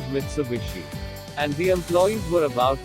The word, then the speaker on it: Mitsubishi: rhombus or diamond shape japanese often when the h sound to av sound when it occurs in the middle of a word so they pronounced the combination of mitsu and hishee as mitsubishi and the employees were